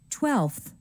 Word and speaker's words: twelfth: 30th 40th 50th 100th notice that the sound in numbers like 5 and 12 changes to a f sound listen and repeat five fifth twelve twelfth also pay attention to the